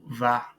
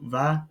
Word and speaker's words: vas: Tu vas.